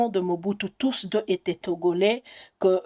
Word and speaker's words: Mobutu: originaire de gbado et le nom Mobutu vous vous le prononcez Mobutu mais chez nous en gbandi on nous prononce Mobutu Mobutu veut dire vous